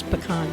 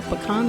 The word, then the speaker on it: pecan: So how do you pronounce pecan? Are you a pecan or a pecan guy?